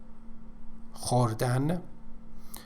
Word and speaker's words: خوردن: خوردن. Pay attention to the pronunciation of khe, which doesn't exist in English.